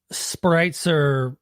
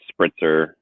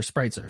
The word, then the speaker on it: Spreitzer: before E, except after Spreitzer. So Well, in the German language, if you have an E and an I together, yeah, you pronounce the second one.